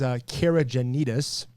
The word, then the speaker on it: Caragiannides: To help you guys understand how to pronounce my last name, the English version is Caragiannides.